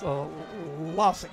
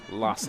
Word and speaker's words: Lassic: And want to correct myself that last sack, get the pronunciation right. That's Lassik, right? Yeah. Brady Lassic.